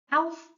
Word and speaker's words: Auf: This one, AU, makes a kind of ow sound, ow, as if you've hurt yourself. Auf Wiedersehen.